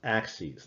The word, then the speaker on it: axes: now this is pronounced axes that's the plural of axis so i want you